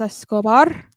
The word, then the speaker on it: Escobar: team big bucks Bob big bucks Bobby Santos es scobar oh that's how I say his name now